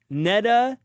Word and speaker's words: Neda: We have Neda rhymes with feta in the building.